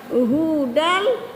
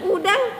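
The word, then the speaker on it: هدى: Hudal, hudal. Nah, jangan udal hu jangan hu dibaca.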